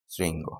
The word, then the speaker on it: শৃঙ্গ: আমি যদি বলি শৃঙ্গ। শৃঙ্গ। রি আছে? রি আছে? আছে। তাহলে কি হবে এটা? শৃঙ্গ।